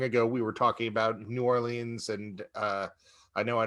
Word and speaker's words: New Orleans: be new orleans in apostrophe or l-i-n-s or new orleans which is closest to the original french or